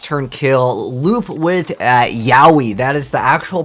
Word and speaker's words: Yowie: ftk a first turn kill loop with uh yowie that is the actual pronunciation of this card uh don't look it